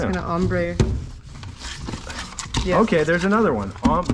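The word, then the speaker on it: ombré: together it's going to ombre okay there's another one um you say ombre and i say ombre but ombre is like for me it sounds like you're saying amber wrong ombre ombre there's aluminum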